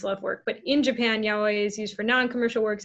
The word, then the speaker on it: yaoi: Yaoi? How do you say that? Yaoi.